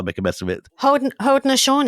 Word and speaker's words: Haudenosaunee: the Algonquin, the Wendats, the Mohawks, and you pronounce it rather than me because I'll make a mess of it. Haudenosaunee. Haudenosaunee.